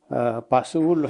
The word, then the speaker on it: 바스훌: 그 제목이 거짓 선지자 바수울로 했는데 그 21장까지 연결되면서 생명의 길과 사망의 길 제목을 이렇게 좀 바꾸려고 합니다. 제사장의 아들, 제사장 임멜의 아들 바스훌이라는 사람이 파시후르입니다. 원래 이제 히브리어 발음은 파시후르, 평화라는 그런 이름의 뜻인데